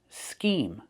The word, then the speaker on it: scheme: The first word has a long E like green beans, scheme, and a silent E at the end.